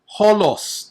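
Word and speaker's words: ὅλος: Allah, Allah, alos, alos, holos. Take note of the rough breathing mark.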